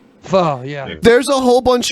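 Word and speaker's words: phở: soup fog it smelled like pho but it's pronounced Fah Fah yeah there's a whole bunch of places in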